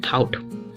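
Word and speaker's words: thought: में थिंक में सोचना और थॉट मेंस साइलेंट है तो यहां एक साइलेंट रूल लगता है की कोई भी शब्द में अगर जिया जाए तो उसमें जी हा साइलेंट राहत है इसको हम पढ़ने हैं थॉट नेक्स्ट है मतलब शुरू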